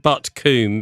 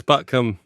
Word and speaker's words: Butcombe: And, you don't pronounce it as Coombe when you're in the West Country. No. I was told this. I'd always said Butcombe, being, you know, nicely brought up.